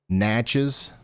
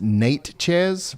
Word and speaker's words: Natchez: New location for Hall Force 1, Carly, is going to be Natchez, Natchez, Mississippi.